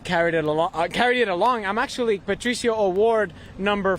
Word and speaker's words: Patricio: Give me the exact pronunciation of your first name. Patricio, Patricio.